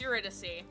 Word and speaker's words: Eurydice: Yeah, it's Eurydice. To be fair, I pronounce a lot of other words wrong.